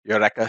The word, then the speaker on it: Eureka: I already know that I'm going to start with Eureka 7, or sorry, Eureka 7 as they pronunciation in Japanese.